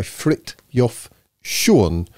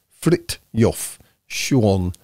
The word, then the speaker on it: Frithjof Schuon: reading this book to have a center by frit yof Shuan apparently this is how you pronounce it frit yof Shuan um I looked it up and apparently that